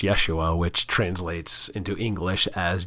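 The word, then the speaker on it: ישוע: In the Hebrew, it's pronounced Yeshua, which translates into English as Joshua.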